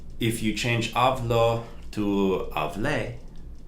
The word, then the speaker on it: hablé: If you change hablo to hablé, with the emphasis on hablé, like café, coffee, café, hablé, changing that O to the letter E, that accent mark, that's the past tense.